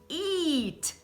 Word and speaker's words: eat: O primeiro tem EA, então como vai ser? Vai ser o sorrisão. Eat, to eat. I eat breakfast every day. Né? Eu como café da manhã todos os dias. I eat, eat, eat. Olha o sorriso.